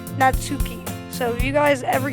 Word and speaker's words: Natsuki: say this right now I'm pronouncing her name say Yuri and her name natsuki so if you guys